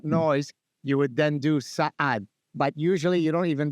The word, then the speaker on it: Saad: Well, the first part is right. The second is it's a guttural ayin, so it would be Saad.